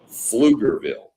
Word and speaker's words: Pflugerville: Yeah, people that don't understand, Pflugerville is spelled PF. I gotta go back. Yeah. Pflugerville. Pflugerville. So the P is not there, but it's there when you write it.